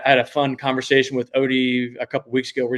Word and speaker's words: Otey: I kind of pair Instagram and Facebook together, but if if you search OT and it's it's it's it's pronounced OD like overdose, but it's spelled O ty.